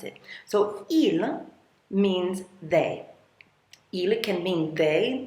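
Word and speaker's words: ils: And notice I don't pronounce the s on that. Even though it's plural, there is an s. You don't pronounce it. So ill means they can mean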